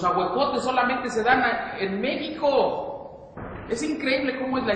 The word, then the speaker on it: México: México porque es curioso decimos México y lo escribimos con x Cómo está eso en las escuelas no dicen que la J se pronuncia y que la x Entonces por qué Si lo escribimos con x pronunciamos como J a poco a ver